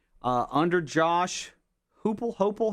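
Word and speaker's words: Heupel: Uh, under Josh Hoopal, how do you say his name? Hipel.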